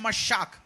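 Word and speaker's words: משח: हिंदी में मस्सा बोलते, इब्रानी में मशाक, मस्सा और मशाक, मस्सा लिखा गया बट उसका जो प्रोनाउंसिएशन है मशाक।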